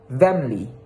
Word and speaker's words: family: So for the right reading or pronunciation is that family.